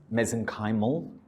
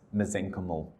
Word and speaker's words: mesenchymal: or mesenchymal stem cells I pronounce mesenchymal with your accent you'll pronounce it as mesenchymal they're the same thing mesenchymal stem cells may